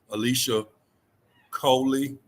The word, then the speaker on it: Alicia Coy: I pronounce it right yes you said it right yeah I must because you laughing on it you laugh you was you said it like you was reading all the letters in the last name